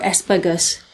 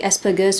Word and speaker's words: Asperger's: I'll also be pronouncing Asperger's with a hard G instead of a soft G, because that's like the original German pronunciation, but there is no